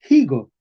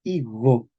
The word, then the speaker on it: higo: Es una G fricativa, higo. ¿Eh? Entonces, ojo con estas palabras que son difíciles, ¿verdad? Se escribe con F, medieval, se pronuncia con H. Español moderno, escribimos con H, pero no pronunciamos la H.